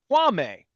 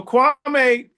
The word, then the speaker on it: Kwame: Tell me about Kwame, not Kwame. So Kwame, the original saying, the original pronunciation of the name is Kwame, and Kwame means born on Saturday.